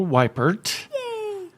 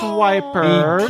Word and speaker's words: Weippert: Weippert, who she doesn't like to be called Weippert, so don't call her Weippert. It's Weippert.